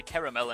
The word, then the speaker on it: caramel: If you're wondering why I say caramel and not caramel, it's because in French the word is caramel. So that is my assumed pronunciation of it in English.